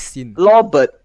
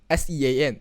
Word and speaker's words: Sean: name my name is sin lord sin lord what's sin s-e-a-n that's cause sean oh no oh no